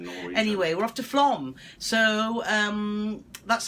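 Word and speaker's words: Flåm: So, as the captain said, we're off to Flom tomorrow. We always thought it was called Flam. Yeah, but it's Flom. It's spelled F-L-A-M, but it's got one of them funny things on the top.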